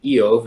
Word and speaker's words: Job: Jake is, when he's reading, he's saying Job, and when I'm reading, I'm saying Eov, is because the Bible that I'm using is a Hebrew transliteration. So that is how the name Job is pronounced in Hebrew, and so I'm just